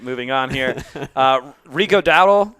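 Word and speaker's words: Dowdle: Uh, Rico Dael, Daell, Dael, I think it's Dow, right? Dao.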